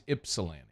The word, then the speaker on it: Ypsilanti: think it's Ypsilanti okay so we don't pronounce the Y the Y is silent I don't think look it up but I don't I think it's ipsilanti when it got we